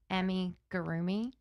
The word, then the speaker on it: amigurumi: So what I found was that it actually originated, and I'm probably going to not say this word correctly, but it's called amigurumi.